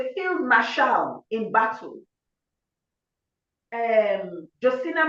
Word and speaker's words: Josina: Our young people must go and, her name is spelled Josina. Josina, Josina, and her surname is Machel, Machel.